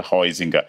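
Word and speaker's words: Huizinga: média o autor Holandês dizem que se pronuncia roizinha escreve o izinga meu holandês é fraco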